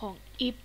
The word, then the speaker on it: Ib: จะ มา แคส เกม IB หรือ อิฟ เ คง อ่าน ว่า อิฟ กัน แล้ว เนาะ เ ไม่ อ่าน ว่า IB หรอก อ่ะ เอ้า กด ผิด